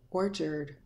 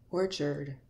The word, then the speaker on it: orchard: sound of er when AR is in a an unstressed syllable is pronounced R sound here the letter A R is pronounced as ER let's take a look